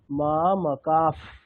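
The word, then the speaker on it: মামকাঃ: মেটেরিয়ালে সবকিছু রয়েছে এখানে মামকার পরে যে বিসর্গটা আছে সেটা আমরা কেমন উচ্চারণ করব সেই বিসর্গটাকে আমরা টেকনিক্যালি বলব ফকার প কেমন হবে মামাকাফ মামাকাফ বিসর্গটাকে কি বলব ফকার প ফলে উচ্চারণটা টা কেমন হবে? মাকাফ।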